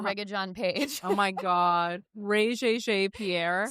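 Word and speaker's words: Regé-Jean Page: You said Rea Jeene Pierre. His name is Ra John Paige.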